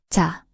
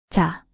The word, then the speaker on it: 자: And ch sound like in jam, but softer and unaspirated. Represents the teeth with the tongue slightly raised. Example with the vowel a, this forms ch, pronounced ja. 자, 자.